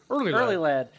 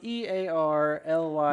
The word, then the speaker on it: EarlyLad: It's spelled EARLYLAD. No, Early Lad. And they're like, the fuck? It's not Early Lad, it's Early Lad. You have to say it with like a slur.